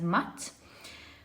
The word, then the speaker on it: Mut: Right, so you have Mut, or some people pronounce the goddess as Mat, with motherly care.